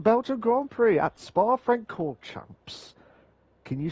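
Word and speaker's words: Francorchamps: no Spotify call Champs Frank call Champs is that how you pronounce it yes Spa friend chord Champs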